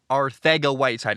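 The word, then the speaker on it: Arcega-Whiteside: told the pr the proper pronunciation is jj arthago whiteside it is spelled our sega uh i had a friend who had the last name his name was jose arsega uh but this apparently is arthega jj arthago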